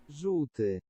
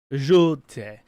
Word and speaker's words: Żółty: It's really hard for it's notorious for English people not to be able to pronounce. It's this word. Żółty. Żółty.